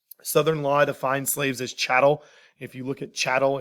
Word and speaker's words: chattel: law defines slaves as chattel if you look at chattel it's cattle with an h i know it's spelled differently but that's the easy way to remember it chattel human cattle and